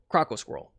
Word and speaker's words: Croco Squirrel: Croco Squirrel is how you pronounce that.